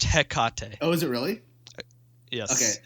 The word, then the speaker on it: Hecate: hold on don't you do it pronounced it's pronounced heck cotton oh is it really yes it's it's a